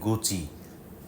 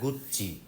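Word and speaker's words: Gucci: নাম জিজ্ঞেস করলে আপনারা বলবেন গুচি, এটা ইংরেজি নাম। ইতালিয়ানে নামটা গুচ্চি, দুটো সি আছে এবং উচ্চারণে দুটো সি আসবে।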